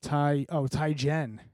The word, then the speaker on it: Teigen: If you don't have a phone going, Jonathan, I had to look up how to pronounce her name, and it is Teigen. Teigen. It is pronounced Teigen.